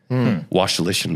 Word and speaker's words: Wasylyshyn: Wasylyshyn, by the way, is how you pronounce that.